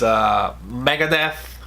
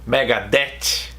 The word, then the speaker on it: Megadeth: extinction countdown to extinction it's not easy to say that the right way but it's Megadeth Megadeth some people say here in Brazil Megadeth Megadeth I don't like we don't have the the we don't use the tongue between the teeth like Americans do so it's one of